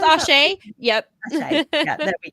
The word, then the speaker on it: Asé: Yeah, I may leave you ladies there to do your Asha review, which sounds amazing, actually. Yes, Did I I'm pronounce very it excited. correctly? Yeah, it's Ashe.